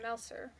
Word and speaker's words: Malsair: Glare Malsair. And so I was like... I thought... Malsair, that's probably how he probably would say Malsair and... Because it rhymes with Glare.